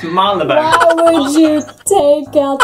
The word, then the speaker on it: Marylebone: This is a part of London, and it's Marylebone. There's a Y there! There's a Y! It's Mary! It's Marylebone.